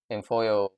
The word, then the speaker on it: Imfuyo: in it's right about the same time when infoo also am I saying it right I'm sorry